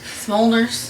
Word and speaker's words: Smulders: our last name right Smulders yes Moltres something that a fire does it smolders kind of Mulder first